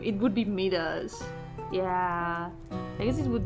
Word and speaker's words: Midas: It's actually pronounced Midas. Is it? Midas.